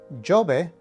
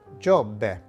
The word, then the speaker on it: Giobbe: And this particular word would not be pronounced Giobbe, but Giobbe.